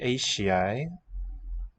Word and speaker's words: eisiau: Dwi eisiau datws neu siocled. Dwi. So du, e, eisiau. Palatalization of the S to a sh.